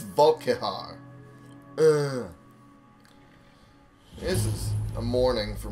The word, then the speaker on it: Volkihar: Anyway, there are always human cattle in Castle Volokar that any vampire can feed upon, and I pronounced it wrong. It's Volkihar.